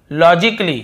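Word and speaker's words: logically: है और देखिए लॉजिकली लॉजिकली यहां पर भी ए को हम नहीं पढ़ रहे हैं फिर देखिए क्रिटिकली क्या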